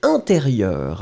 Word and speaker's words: intérieur: And the last thing, it was intérieur. Hein? Le ministre de l'intérieur. Intérieur, you will write it like E-N. Remember, it's a nasal, so everything is going in the nose. You don't pronounce any N.